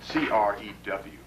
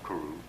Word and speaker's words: Crew: age of the moors c-r-e-w c-r-e-w crew or kuru either way you want to pronounce it